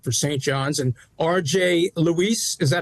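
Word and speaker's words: Luis: that back court for St John's and RJ Lise is that how you to pronounce it that's correct another guy who's stepping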